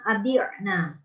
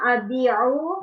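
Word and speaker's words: أبيع: Ana abi'na. Nahnu nabi'u. Salah. Ana abi'u. Nah. Nahnu nabi'u. Cukup. Tadi bacanya abina, salah tadi abina, abi'u.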